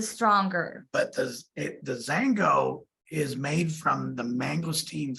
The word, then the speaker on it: Xango: about and that is xango it starts with an X but the x is pronounced with the Z okay here's the bottle